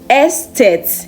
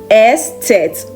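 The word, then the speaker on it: Eszett: It looks more like the beta sign, but it is pronounced Estet in German. Estet oder scharfes S.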